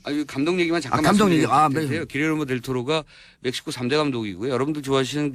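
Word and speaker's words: Guillermo del Toro: 가져오신 게 있어요 감동 얘기가 잠깐 정리가 안되요 길예르모 델 토로가 멕시코 3대 감독이고 여러분들도 아시는 등 안 기아는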